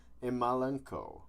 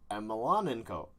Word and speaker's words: Emelianenko: Fujita's skull versus Fedor Emelianenko. A New Hope. I'm sorry for that rough pronunciation.